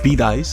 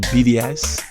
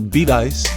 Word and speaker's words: Bedias: learn the correct pronunciation of Shiro and even beat ice I was pronouncing it BDS because of house of spell but once we got to beat ice the lady that worked at the reading store